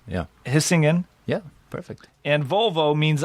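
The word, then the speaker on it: Hisingen: as jacob rolled out of the factory and hissigan gothenburg yes yeah that's a perfect pronunciation and he's singing we would say yeah hissing in yeah perfect and volvo means i roll in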